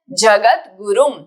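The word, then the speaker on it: जगद्गुरुम्: जगत गुरुम, यहाँ पे आधा द नीचे ग और उ, जगत गुरुम यानी कि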